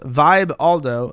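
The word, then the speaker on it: Vibaldo: the vi Baldo the vi Baldo pronounced Vibe Aldo doesn't just include your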